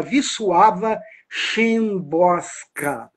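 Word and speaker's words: Wisława Szymborska: de Literatura se chama viss suava chosa é assim que se soletra mas não é assim que se escreve o nome dela ela vai dizer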